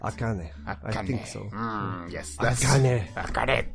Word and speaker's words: Akane: I think if you're gonna pronounce it in Japanese, it's probably Akane. Yeah. Correct. Akane.